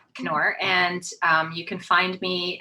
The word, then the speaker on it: Knorr: And the K, I know everybody pronounces it with a soft K because that's what we grew up with, words like knife, etc. But it is actually a hard K, Knorr.